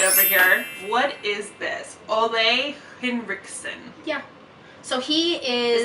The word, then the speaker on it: Ole Henriksen: Ole Henriksen.